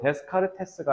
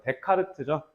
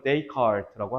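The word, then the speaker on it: Descartes: 자, French philosopher, 자, 저 데스카르테스가 아니라 프랑스어예요. 그래서 데카르트죠. 데카르트. 영어 발음으로는 데이카르트라고 합니다.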